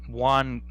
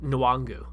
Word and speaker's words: Nwangwu: I think it's the last name is pronounced Nwangwu.